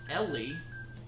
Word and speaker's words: Eli: Eli Don donated and says, hey, me and my boyfriend, Eli 301 Don, pronounced E. Oh, actually pronounced Ellie.